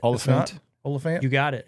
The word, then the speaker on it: Olyphant: Timmy Olyphant. That's not how you say it. Oliphant.